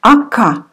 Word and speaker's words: Ока: Ока. О, we pronounce like А. Ака.